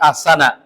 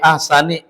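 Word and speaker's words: أَحْسَنِ: Dari sini bacanya bukan fi asana. Assana itu termasuk isim gir munsarif. Dia bacanya fi ahsani ni ni ni kasrah. Kenapa? Karena ah mudhaof takwimin mudhaofun ilaih. Jangan dibaca fi ahsana takwimin. Salah.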